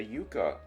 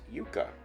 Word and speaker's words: yucca: And cassava flour comes from the yucca root. Cassava is yucca. Yucca, not yucca.